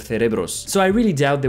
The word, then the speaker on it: cerebros: Because when I was in Spain, people were very strict about the pronunciation, and they would have corrected me if I said cerebros instead of cerebros.